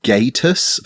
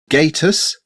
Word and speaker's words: Gatus: of software called Gatus, which I think maybe I'm supposed to pronounce Gatus, like status.